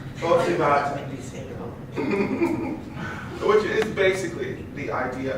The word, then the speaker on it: Bodhisattva: I've been pronouncing it phonetically. What is it? Botsivata. Botsivata. I say it Bodhisattva. Botsivata.